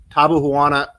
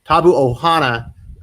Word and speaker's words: Tabu Ohana: have a partnership with table vana was it I'm sorry taboo Ohana we say it wrong Tabu Ohana gaming chairs and skip